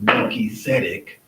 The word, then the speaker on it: Melchizedek: are pronouncing the word, you will sometimes pronounce the T and the S, like flowing out together. So this would be Melchizedek, is how you would say Melchizedek. That's the way you should say it.